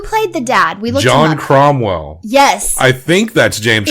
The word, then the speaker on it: Cromwell: dad it is James cromwell's dad John Cromwell was an actor and director I did look him up I just I thought it was chomel but I didn't want to say it wrong he's funny in this